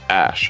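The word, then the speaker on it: Æ: and that's what came up the AE is pronounced Ash actually and a12 is Archangel 12 the precursor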